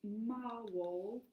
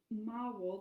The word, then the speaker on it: Maawol: There's a new platform called Mawall, but it's that is a specific site for actually being able to host your.